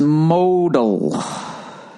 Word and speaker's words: modal: It's pronounced modal. I don't know how many times I have to mispronounce this before I get some decent copy. All right? It's all written in lowercase. MOH-DAL. It doesn't tell me which one to fucking stress. It's either modal or modal.